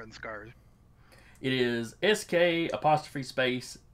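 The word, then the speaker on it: Sk' Arr: From the pronunciation, kind of this guy thinks of it. There's no hesitation in there like there usually would with an apostrophe. It's just Scar.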